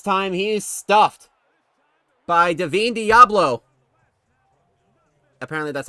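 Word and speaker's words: Divine Deablo: This time he is stuffed by Deavine Diablo. Apparently that's how you pronounce it. I I've been for the longest time I thought it was Devine Diablo because it's spelled like that, but whatever.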